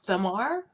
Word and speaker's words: Thamar: Is it Thamar? The H is silent. It's Tamar. Tamar.